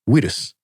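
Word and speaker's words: ウイルス: bu, they could say buirus was translated as we instead of bui to approximate the V sound at the time, because it was very hard for Japanese people during that time to be able to read that character. Like to phonetically make that sound. And so that led to its current form, which is wirus.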